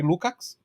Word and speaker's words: Lukács: Um é Antônio Gramsci e o outro é o Georg Lukács, para usar a pronúncia húngara, dado o meu húngaro nativo, né?